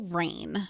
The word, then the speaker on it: Reign: thing is the show reign you could watch it on netflix it's spelt r-e-i-g-n like brain it's a royal show not rain like when it rains outside so basically my friend